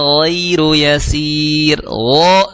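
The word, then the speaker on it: غير يسير: Alal kafirina ghairu yasir. Tebal. Ya, jangan sampai goi, ya. Ghairu yasir.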